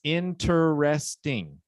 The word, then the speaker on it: interesting: interest right but it's one of those words where we cut out the middle syllable interest interest and the